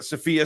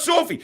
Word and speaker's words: Sophia: Sophia, not Sophie.